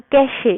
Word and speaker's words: cache: तो कैश memory हमारे पास क्या है, अ कैशे, बेसिकली आप अगर इसे देखें तो ई भी है इसमें, कैशे, इसको प्रोनाउंस हम करते हैं, pronounced as कैश, इज a small and very fast memory.